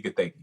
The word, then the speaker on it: Gathegi: Eddie Gathegi.